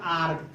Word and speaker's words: arch: अब यहाँ लिखते हैं हम ARCH तो इसको पढ़ते हैं आर्क।